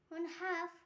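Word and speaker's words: half: এফ এর আগে এল silent rule, যেমন হাফ, এইসে এল এফ, হাফ। তেমন করে কাফ, বিহাফ।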